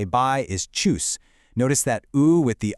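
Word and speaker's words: tschüss: And finally, the casual way to say bye is choose. Notice that ooh with the umlot right there in the middle. It's pronounced choose.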